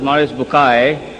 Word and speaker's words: Maurice Bucaille: Maurice Bucaille, pronounced as Maurice Bucaille.